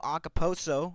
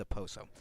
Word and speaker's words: Okposo: As Nick Cousins will be in the lineup for Kyle Okposo, or Okposo. How do you pronounce that? Okposo or Oposo? I believe it's a Poso.